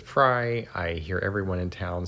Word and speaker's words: Frey: you'll notice the Albert Frey alumin air house and uh someone pointed out that Albert pronounces it fry I hear everyone in